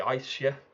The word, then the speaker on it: Aesir: to, and that is the Aesir, or the Aesir as it should be pronounced, and the Vanir.